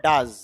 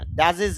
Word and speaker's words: does: যেমন খেয়াল করেন ডু ডু থেকে হয়ে গেল ডাজ জ উচ্চারণ আচ্ছা ডাজেস না এটা হল ডাজ ব্যাড ব্যাড থেকে ব্যাটস